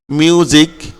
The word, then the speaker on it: music: এরপরে এসটা কখন জয়ের মতো হয়, দেখো মিউজিক, হ্যাঁ, প্রেজেন্ট, এখানে মিউজিক SIC জিক হয়েছে। কেমন? সিক হয় নাই, মিউজিক, MUSIC জিক। এখানে এসটা দেখো, এসটা জয়ের মতো উচ্চারণ হয়েছে।